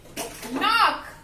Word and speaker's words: knock: Knock. Knob. Night. So, here all in this row, K is the silent letter.